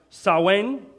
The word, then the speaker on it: Samhain: festival called saw wayne been pronounced Samhain I don't know really know the pronunciation but this I don't think anyone actually knows the pronunciation of this actually talk to someone who's familiar with the occult they will probably be they would probably pronounce it saw Wayne which was a harvest